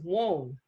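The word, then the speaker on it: weng: And then the top of the head, the crown chakra, is Wong, W-E-N-G, pronounced Wong.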